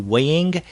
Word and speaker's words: Weing: and written by Drew weighing and I guess we're pronouncing that last name correctly it's w-e-i-n-g and in fact you